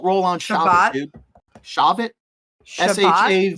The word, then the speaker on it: Shavuot: Aggression, International Corgi Day, Audacity to Hope Day, Shavuot? Forgive me, my Jewish friends. I do not know how to pronounce that. Shavit? Shabbat? We don't roll on Shabbat, Shabbat? dude. Shavit? Shabbat? Shavuot.